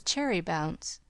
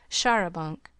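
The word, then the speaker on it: charabanc: Lawrence's cherry bounce. Hannah's pronunciation of Sharabunk.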